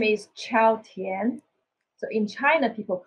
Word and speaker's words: Chao: So in China, people call me Tian Chao. So we shaped right. The position of the last name and first name. So Chao, actually pronunciation, just like the Italian greeting word, Chao.